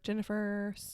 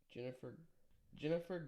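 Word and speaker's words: Ginnifer: Jennifer Goodwin. Okay. Jennifer Goodwin. Yeah. Okay. And her name's spelled with a G. I know. So that threw me off when I was trying to pronounce Jennifer.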